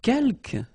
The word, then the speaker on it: quelques: Quelques, you don't pronounce the final S here.